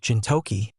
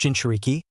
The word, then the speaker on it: Jinchuriki: You said something about Jintoki, or something. It's pronounced Jinchuriki.